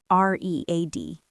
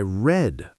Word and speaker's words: read: I read a book yesterday. Ah, that's different. I read a book yesterday. It's the same spelling, re e A d, but for the past we say read.